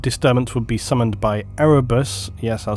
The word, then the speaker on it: Erebus: This warp disturbance would be summoned by Erebus, yes, I'll say it correctly now, during the